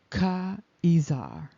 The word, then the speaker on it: Caesar: Caesar is not really Caesar. It's really Ka'izar.